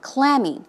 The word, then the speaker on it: clammy: adjective as you say the stress goes on the first syllable clammy it's cold and damp